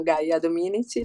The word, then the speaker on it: Gaia Dominici: Allora, io mi chiamo Gaia Dominici, l'hai detto giusto, e l'accento era giusto. Gaia Dominici, ho 28 anni, sono